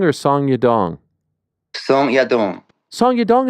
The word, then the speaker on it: Song Yadong: song Yong song Yong song y dong is the right way yep oh my gosh